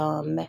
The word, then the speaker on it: homme: and vieille femme, vieil homme. So the H is silent for homme.